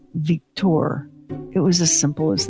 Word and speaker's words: Victor: And in French, the name Victor is pronounced Victor.